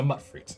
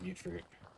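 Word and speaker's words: Mutfruit: All right, I will try my best to remember it's called mutt fruit. But it was a thing in Fallout New Vegas as well, and I always just pronounced it mute fruit. Mutt fruit it is.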